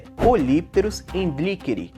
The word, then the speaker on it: Polypterus: A pronúncia correta é polípteros. Porém, é comum vocês ouvirem muitas pessoas dizendo polípteros encherry, polipteros anderry, porém isso não faz diferença nenhuma.